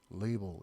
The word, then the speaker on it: label: on the label 그 레이블에 보통 우리가 이거 라벨 그러죠. 영어 발음은 label 이렇게 읽어야 돼요.